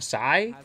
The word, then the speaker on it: Scythe: she's got a scythe a sigh I think it's spelled Scythe but pronounced Psy like Gangnam Style I don't know how